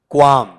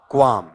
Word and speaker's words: qualm: बताओ इसका उच्चारण क्या है, क्वाम। बोल के बताओ एक बार जरा, बताओ क्या टर्म है आपका, क्वाम।